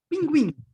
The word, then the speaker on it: pinguim: Pinguim. Okay, pinguim. All right, all with nasal E.